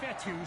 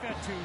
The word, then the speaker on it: Fetu: second down so coach fetu spelled Fe Tu for the longest time I was pronouncing it coach feta like Feta cheese so let's just say